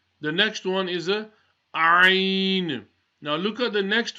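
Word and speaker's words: عين: Ayn and the last letter we read, the ha, are both pronounced from the middle of the throat.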